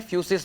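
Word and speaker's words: φύσις: बेटा ये जो लिखा हुआ है ग्रीक लैंग्वेज के अंदर ही मैंने लिखा है, इसको प्रोनाउंसिएट कैसे करोगे, क्या है ये है फ्यूसिस बेटा।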